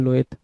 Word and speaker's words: loathe: भी पसंद नहीं करते हो, उसको बोलते हैं लोएथ। तो स्पेलिंग में कभी कंफ्यूजन नहीं होंगे, यह है